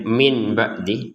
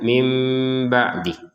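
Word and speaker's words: مِن بَعْدِ: Jadi kita jangan lagi membacanya min ba'dih tapi membacanya mim ba'dih.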